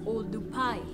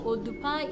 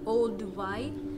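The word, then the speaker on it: Oldupai: in english and so in masai is odupai and so odupai is the correct name of the gotch those old dubai as it was mispronounced by the first person to saw the gorge elia 1911 just a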